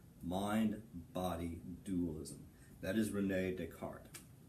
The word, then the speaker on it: Descartes: dualism that is Rene Descartes the S is silent it's not this cartas mystic heart ugly look